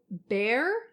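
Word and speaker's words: Bair: So, Bear, right? Yep. That's how I say her name?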